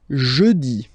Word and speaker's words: jeudi: Next one, jeudi. Jeudi. Remember, when you combine this U, you get the sound E. Jeudi. Jeudi. So I insist a little bit, so make it softer.